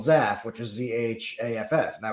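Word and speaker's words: Zhaff: board and in various there's a character called zaf which is z-h-a-f-f and that was always his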